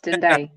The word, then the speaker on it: Tendai: Thank you, Ruth, and your brother there, is it Mendel? I don't know, Mendel or what? If I pronounce the name wrongly, sorry. But it's been a pleasure to be here. Tendai. Yeah, it's Tendai.